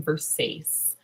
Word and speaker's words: Versace: The bird's name is Versace, but I call him Versace because that is how that should be pronounced.